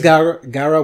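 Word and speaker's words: Gyaru: it's a whole Garu, yeah, but I don't know how to pronounce it. I've never heard it. It is Garu, but it's also Gangoro.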